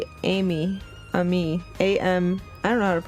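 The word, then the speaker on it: Aimi: expanded upon and oh it's spelled a i m i yeah jeez I never would have gotten that Amy Amy a Emy at Emy no just Amy at Emy it say that's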